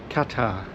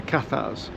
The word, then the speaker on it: Cathars: One of the periods of history I'm most fascinated by is the Katar history, the Kathars as we pronounce it in English period of the 13th century.